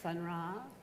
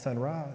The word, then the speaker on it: Sun Ra: But you've got these figures in this book, Sun Ra. Yeah. Am I saying it correctly? Yeah, Sun Ra.